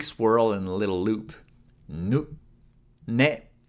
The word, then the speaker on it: ね: and a little loop ね is pronounced like ‘ne’ in ‘Nelly’ This is Nelly the